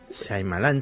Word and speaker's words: Shyamalan: ¿cómo se pronuncia? Shyamalan, el director. Shyamalan, sí.